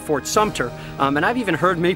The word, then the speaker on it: Fort Sumter: I also hear people often saying Fort Sumter instead of Fort Sumter, and I've even heard many people mispronounce Robert E.